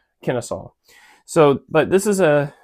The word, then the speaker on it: Kennesaw: They had a word that sounded like it. I'll put it on the screen, but we pronounce it Kennesaw.